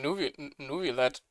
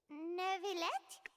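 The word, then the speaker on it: Neuvillette: That's how you pronounce him? I've been calling him Nuvillet.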